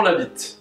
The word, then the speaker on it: Labit: présente je m'appelle Labit hein alors attention pas de blague vaseuse puisque mon nom ne s'écrit pas comme il se prononce hein la B de